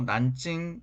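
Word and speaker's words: 南京: 펑 이라는 지명 입니다 뒤 논 남경 중국어 발음으로 난 찡 이라고 하는 지역입니다 이 논 북경 베이징 이라고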